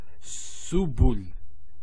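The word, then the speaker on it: سبل: So to pronounce this is has a s sound, so su, bu, and this is the lam, like the letter L. So subul.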